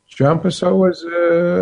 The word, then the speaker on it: João Pessoa: So how far away from, how do you say that name, João Pessoa? Is that how you say it? João Pessoa it's a 3-hour car ride and another 2.5 hours by plane.